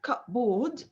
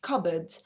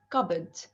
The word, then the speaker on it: cupboard: word cupboard it's not cut booed it is cupboard so the p here is silent and the o a